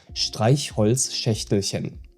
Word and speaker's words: Streichholzschächtelchen: And the challenge here is the sequence of CH sounds. And for each you have to use slightly different pronunciation, depending on what comes before or after it.